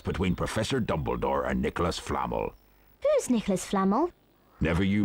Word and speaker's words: Flamel: It's the fact that they're pronouncing Nicholas Flamel all wrong. Nicholas Flannel.